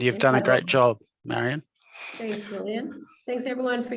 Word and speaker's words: Marian: website I mean my my name is Marion and it's spelled m-a-r-i-a-n just think the librarian so Marion at Ministry